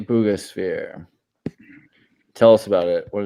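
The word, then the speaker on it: Buga sphere: Booga sphere.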